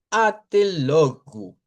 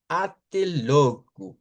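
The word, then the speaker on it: até logo: Decimos atelogu. Atelou vendría siendo la pronunciación. Esa es de las palabras donde esto no se debe de cambiar por ch.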